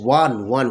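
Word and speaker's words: one: আচ্ছা নেক্সট কি আছে, have you seen dash ওয়ান, very very nice word, ওয়ানের উচ্চারণটা কীরকম হয়, WON এর মতো হয়, দ্যাটস ওয়াই এখানে A1 রুপি নোট হয়, A1 রুপি নোট।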